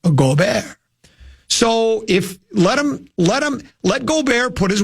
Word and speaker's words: Gobert: In America, you would just say Gobert, but the French pronunciation is Gobert.